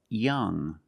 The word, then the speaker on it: young: The UE at the end is silent, so we pronounce it like young.